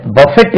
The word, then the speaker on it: buffet: இதை பஃபெட் என்று உச்சரித்தால், பஃபெட், பஃபெட் என்று உச்சரித்தால் இடிப்பது.